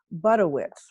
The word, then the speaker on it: Budewitz: And she told me how to say her last name, Budewitz, right? Yes. Or close enough. Well, my father had 3 brothers and they all said it differently, so variations are acceptable.